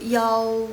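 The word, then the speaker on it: 幺: Karena mereka itu ada dua cara baca. Satu yang i yang biasa yang udah sering kita dengar, yang kita tahu. Terus kalau misalnya yang satunya lagi yang yao. Kalau di Taiwan biasa aja i ling i gitu. Kalau Taiwan baca seperti biasa i ling i gitu. Tapi kalau yang Dalu Cina daratan sana mereka suka bacanya i yao ling yao gitu.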